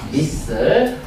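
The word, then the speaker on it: missile: 미사일. 발음은 미슬이라고 했습니다. 미슬.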